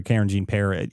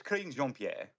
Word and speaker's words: Karine Jean-Pierre: I think it's pronounced Karine Jean-Pierre or something like that, but it's much easier to say Karen Jean-Pierre. Now, I don't know how you actually say her name, and no one cares really because Karine Jean-Pierre. It's Karine Jean-Pierre.